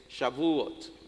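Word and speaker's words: Shavuot: Y el nombre original de esta fiesta que nosotros conocemos como Pentecostés es Shabuot, así se pronuncia en hebreo.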